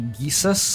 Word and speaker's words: Geus: It's uh Jesus in this world is actually Geus. I pronounced it wrong.